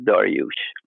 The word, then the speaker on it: Daryoush: of saying that correct Darius is the Greek pronunciation of it that most people most Americans know it bite by but